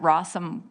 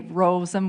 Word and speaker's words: Rosem: But sometimes I've had people pronounce it Rossum, the kids all year long. So I always like to say Rosem with a long O, just so that it's easy to remember.